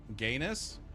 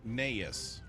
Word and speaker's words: Gaius: Gainus? It's pronounced Gaius. Are you sure? I'm pretty sure it's Gaius.